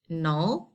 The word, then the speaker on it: knowledge: It is said to be like knowledge. Okay, like this one. So regarding the rule, this word is a noun, consists of two syllables. It is no and ledge. Why two syllables? Because I have two vowel sounds. Okay, now the rule says that I have to stress the first syllable.